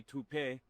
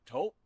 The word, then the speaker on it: Toop: No, I'm pretty sure it's Toop Insurance. Maybe toupee. Could be Toupee. Yeah, I don't know. Or taupe insurance, maybe? I don't think so. Say it right. That's T-O-O-P. That's taupe. Oh, it's Taupe.